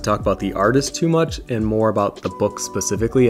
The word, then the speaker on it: Mucha: favorite artist and this is the world of mooka so side note I just found out that his last name is actually pronounced mucha but because of force of habit I'm just